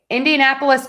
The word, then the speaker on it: Indianapolis: Indianapolis Colts are up next. So we are going to stress the n and then colts because colts just has one syllable.